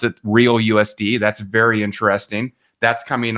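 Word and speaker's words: RLUSD: timeline it's called the RL USD uh they pronounce it real USD that's very interesting that's coming online right away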